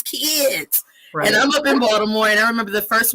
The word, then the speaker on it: Baltimore: that people say it yes it's spelled with a t no one from box tomorrow everyone says baltimore like with a d so you could clearly